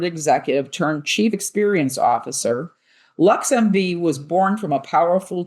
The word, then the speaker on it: LXMV: LXMV, pronounced LuxMV, is Chicago's first ever womanfounded luxury chauffeur and